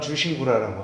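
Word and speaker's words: 忠臣蔵: 또 아시는 분들은 아시겠는데 충신장이라고 그러죠 우리나라에서는 중심장이라고 있는데 일본 발음은 주신구라라고 합니다 근데 1702년 정도가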